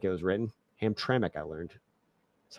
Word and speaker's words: Hamtramck: I learned how I always just called it Hamra that's how I thought it was like said like that's how it looked like it was written Hamtramck I learned that's how it's pronounced anyway hope